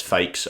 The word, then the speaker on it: Faxe: from Denmark it's f-a-x-e I pronounce that as fakes I don't know if it's